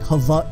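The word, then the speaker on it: Hawaiʻi: the way I stand with the W in Hawaii the W is turned into like a V sound so it's more like Hawaii but there's actually supposed to be what they call an oak kina which is like an apostrophe between the eyes so it's actually spelled hawa e like that and what that little apostrophe does it kind of gives emphasis in other emphasis on the next vowel so it's like hava e but that's yeah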